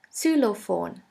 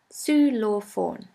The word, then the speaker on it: Xylophon: in the word cellophone the german translation for xylophone is very similar in german we say solo phone su law phone the next letter is